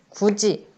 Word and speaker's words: 굳이: 굳이라는 단어가 있어요. 굳이. 굳이에 있는 받침 디귿이 형식 형태소 이와 만나서 이에 있는 모음 이와 만나서 지읒으로 발음되는 거죠. 그래서 굳이라고 발음이 됩니다.